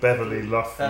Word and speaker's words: Beverly Luff Linn: An evening with Beverly Luff Linn.